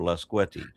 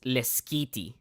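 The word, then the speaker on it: Lasqueti: I laugh, but seriously, look up Lasquette or Lasquetti. Yeah, that sounds like, honestly, those islands are probably it's the not how you chillest pronounce it. place, but It's it's not how you pronounce it. It's Leskiti.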